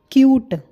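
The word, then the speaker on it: cute: ई लगा दिया तो यह बन गया क्यूट यहां पर हम यू की साउंड बोल रहे हैं जो कि लेटर का नाम है क्यूट ऊट क्यूट नेक्स्ट है मैट ये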